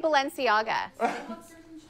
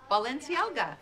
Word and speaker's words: Balenciaga: said she knows no but say Balenciaga she goes Balenciaga Ballers I'm a baller Balenciaga no no that's wrong Balenciaga yes Balenciaga yeah Valencia not Valencia